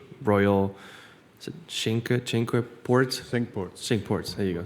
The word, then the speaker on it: Cinque Ports: My dad and I played, and I'm gonna butcher the pronunciation. Royal, is it Cinque Ports? Cinque Ports.